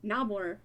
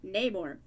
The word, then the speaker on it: Namor: Actor Tenoch Huerta pronounces the words Namor. Oh, Namor instead of Namor? Instead of how it's tradition.